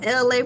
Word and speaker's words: ELAY: I am LA, pronounced like LA, like the city.